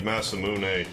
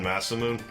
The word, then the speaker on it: Masamune: fazbear but it's a it is more like Masamune or it's closer to that than Massa moon cuz I always used